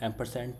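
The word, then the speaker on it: ampersand: एंड जो एंड का symbol होता है उसको बोलते हैं एम्परसेंट, ठीक है। इसको स्पेलिंग पे मत जाइएगा, एम्परसेंट ऐसा कुछ ही बोलते हैं इसको, एम्परसेंट बोलने में इसको ये बोलते हैं, ठीक है।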